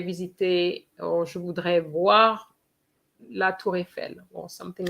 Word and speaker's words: la Tour Eiffel: Donc, the Eiffel Tower, Francine, is la Tour Eiffel for the pronunciation, okay? La Tour Eiffel, la Tour Eiffel.